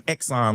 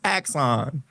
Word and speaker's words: Axon: I was calling them Exxon like they were the energy company. I ain't know what I ain't know how to pronounce that. It's Axon.